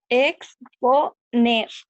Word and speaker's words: exponer: es po, ¿no? exponer. Ah, sí, es cierto, po. Decimos exponer.